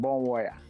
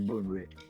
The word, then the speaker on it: Bonwire: The name of the town is called Bonwire, but when you look at the spellings, you may be tempted to mention Bonwire, but the right pronunciation is Bonwire.